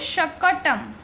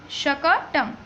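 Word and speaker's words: शकटम्: Last word is, इसको pronounce करेंगे शकटम, शकटम।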